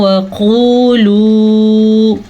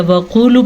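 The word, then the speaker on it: وَقُولُوا: لیتے ہیں، جیسے کہ وقولو پڑھ لیتے ہیں یا وقولو پڑھ لیتے ہیں۔ تو ہم نے کیا پڑھنا ہے؟ وقولو، دونوں واو مدہ ادا کرنے ہیں۔ حطوۃ نغفر لکم، توا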